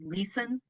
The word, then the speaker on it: Leeson: Our next speaker is, and I hope I'm saying this right, Leeson. Give me 1 second. Are you there? Yes, Yeah. you did say it right, and no one ever great.